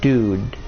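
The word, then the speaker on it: Dood: whose name is Maximilian Dude. The Dude is spelled D-O-O-D, as if you were playing Disgaea.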